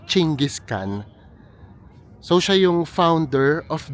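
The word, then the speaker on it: Genghis Khan: And then yung nasa pinakagitna nito ay si kapagka ini-spell siya guys it's genghiskan pero ang pronunciation niya yata ay chingiskan.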